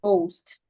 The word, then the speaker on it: ghost: H is silent also when we have letter h after letter G sometimes the H becomes silent as in ghost when we have letter